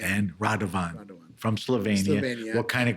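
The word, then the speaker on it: Radovan: No no spell it. R A D O V A N. And Radavan from Slovenia.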